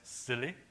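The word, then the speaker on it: SIYLI: Institute s y l it's pronounced as silly yeah and and uh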